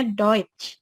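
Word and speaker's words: Deutsch: Jerman itu adalah duit atau the UTS Yi bacanya duit nah matrikulasi kali ini adalah Kenapa bahasa Jerman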